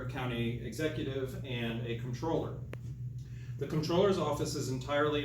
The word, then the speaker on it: comptroller: So uh the number one question that we get however is how to pronounce controller and where does that word come from?